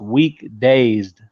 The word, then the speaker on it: WKDZD: But my new artist name is pronounced Weak Dazed.